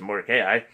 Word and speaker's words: Mordecai: For this man Mordecai, or you can pronounce it Mordecai, waxed greater and greater.